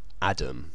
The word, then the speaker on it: atom: They were the first American dictionary to actually say that words like atom, A-T-O-M, should be pronounced Adam, you know, as if they were spelt with a D.